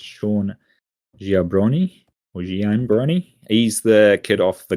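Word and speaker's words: Giambrone: say this guy's last name, but it's Sean Giambroni. He's the kid off the Goldbergs. Did you say jabroni? Giambroni.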